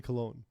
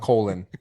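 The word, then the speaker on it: Colón: I believe it's Willie Colon. It's Cologne, yeah, not Colon.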